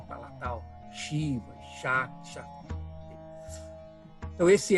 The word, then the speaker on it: Shiva: Shiva.